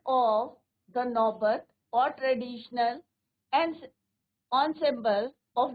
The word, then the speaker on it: ensemble: एनसेम्बल्स नहीं बोलना है बच्चों, इसको क्या बोलना है? Pronunciation ensemble। ensemble things here instrument considered as a group।